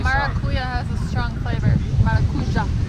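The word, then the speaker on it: maracujá: Maracuja is how they say it here.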